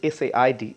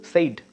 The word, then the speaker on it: said: produced as say but the past form of it that is sa ID is not said it's said it's flat said s e d it's produced like that right so I'm sure